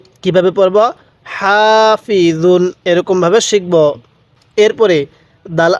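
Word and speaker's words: حافظون: হা ফা জের ফি জ দুই পেশ দুন হাফিজুন কিভাবে পড়বেন হাফিজুন আরেকবার বলুন হাসিদিন হাফিজুন এরকম ভাবে শিখবো এরপরে বলবেন এই হরফের উচ্চারণগুলো আমরা কিভাবে পড়বো তাহলে দাল আলিফ জবর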